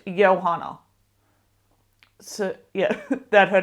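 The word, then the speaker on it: Johanna: in the story and the audio book has actually T taught me that it's pronounced yohana so yeah that her name is pronounced yohana spir but yeah so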